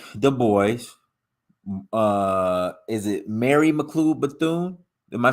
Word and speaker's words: Mary McLeod Bethune: hold on a second let me let me pronounce her name correct I don't want to butcher her name Mary McLeod Bethune Mary mcclue Bethune and W the boy is actually supported Margaret